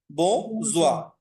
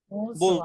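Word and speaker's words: besoin: আবহাওয়া দরকার নাই, বোঝোয়া, এটার উচ্চারণটা কি হবে? বোঝোয়া, বোঝোয়া।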